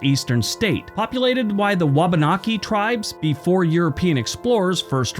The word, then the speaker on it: Wabanaki: also our most eastern state populated by the wabanaki tribes before European explorers first arrived I hope I pronounce them right wakanabe wabanaki w-a-b-a-n-a-k-i anyway the